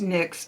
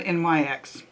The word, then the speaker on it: NYX: is from nyx and by the way i checked it is pronounced nyx and not nyx it just drove me